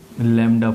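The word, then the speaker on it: lambda: और इस वेवलेंथ के सिंबल को लैम्ब्डा पढ़ते हैं। लैम्ब्डा में यहां पे B बच्चे साइलेंट होता है।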